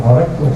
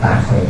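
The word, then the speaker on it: تخريج: khaj itu artinya khajtu takrij bacanya bukan khajtu khtu ya takrij arti takrij itu apa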